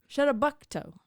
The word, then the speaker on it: Chebogue: Say it with Chebogue. okay. Bay. I'm always so focused on the pronunciation of the first part that I'm like, there's a long pause, and then I'm like, island.